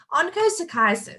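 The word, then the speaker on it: onchocerciasis: a challenge onco psychiatrist ha i got it oncochiasis so i don't know about you guys in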